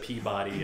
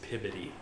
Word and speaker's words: Peabody: Like instead of Peabody, it's Pibody.